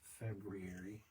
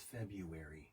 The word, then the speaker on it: February: Planning to air on Thursday, the 9th of February. You know what a stickler I am on pronunciation. I do. It's February.